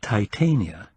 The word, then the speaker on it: Titania: from a and undoubtedly used the Elizabethan pronunciation of the Latin which would be Titania try that on moose